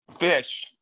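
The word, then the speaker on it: Fisch: sheep also um what is your last name fish spell it f-i-s-c-h oh okay because i was mrs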